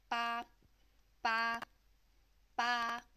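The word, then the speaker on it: 八: And then to pronounce this one, it's with the first flat tone, and it's going to sound like ba, ba, ba.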